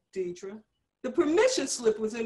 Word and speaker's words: Dedria: Her voice had a sing-song quality as it cut out the second vowel of my name to arrive at the correct pronunciation, Dedria.